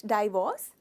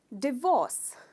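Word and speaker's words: divorce: इट्स नॉट डाइवोर्स, डिवोर्स, डिवोर्स। इसमें आप ये इस पार्ट को स्ट्रेस करते हो, डिवोर्स, they got अ डिवोर्स, उनका तलाक हो गया।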